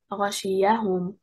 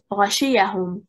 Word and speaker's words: غشيهم: Linguistic instinct indicates that the correct performance of the word is غشياهم, stressing on the first and third حركة. If we stress on the second حركة, غشيهم, the first letter becomes a meaningful letter. If we stress on the first and fourth حركة, غشيهم, we split the word into two parts.